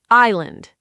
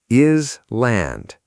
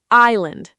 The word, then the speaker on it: island: Island. Isle land. The S is silent? The S is completely silent. Island, not isle land. Island. Island, like your eye and land.